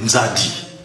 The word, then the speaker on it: Nzadi: C'est un peu comme quand les Portugais sont arrivés chez nous, ils ont demandé, comment vous appelez le fleuve? Nzadi. Et ils n'ont pas pu prononcer Nzadi, ils ont dit Zahir.